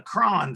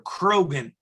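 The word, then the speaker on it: Croghan: And the dagger on the right-hand side descended in the Cron family, or Krogan, we would want to pronounce it by the spelling, but it's Gaelic.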